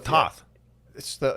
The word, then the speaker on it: Thoth: I thought it was Thoth. He pronounces it as Thoth, so I'm gonna go with his pronunciation.